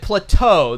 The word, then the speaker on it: plateau: Plateau." The emphasis is on the second syllable.